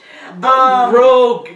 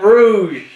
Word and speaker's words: Rogue: Rogue, not Rouge. It's Rogue. still spelled the same. No, it's not. No, it's not. R-O-U-G-E is Rouge. Well, R-O-G-E.